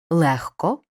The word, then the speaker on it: легко: дзвінкий приголосний не оглушується Але у словах нігті кігті легко вогко дігтяр і похідних пишемо г вимовляємо х префікс з перед глухим